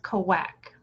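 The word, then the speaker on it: Cauac: it up and it it's pronounced kawak and it was in fact mayan but in my dream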